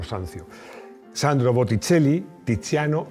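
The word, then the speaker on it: Sanzio: da vinci michelangelo buonarroti rafael sancho sanció perdón pero se pronuncian italiano sancio sandro botticelli tiziano y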